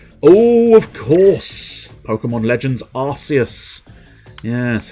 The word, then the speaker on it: Arceus: uh that's why i'm surprised they don't go with it being a hard c because arceus would sound just as epic and it's a made-up word so it doesn't make that much difference but nope they decided us was the destiny of that game we